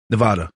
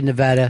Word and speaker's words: Nevada: last night so uh how do you pronounce the state that Las Vegas is in Nevada Nevada you say Nevada Nevada Chris you say Nevada what do you say I say Nevada right the local people say Nevada and one of those things that local people lock into I don't know whether you've